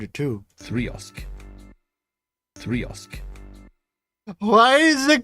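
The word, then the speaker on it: 3xOsc: by this this thing goes by uh many pronunciations uh you can call it the 3x also you can call it the 3x osc you can call it the three times oscillate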